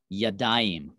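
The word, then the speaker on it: ידיים: to say two hands you'd say ya daim so yad is the word for hand and that aim sound at the end that's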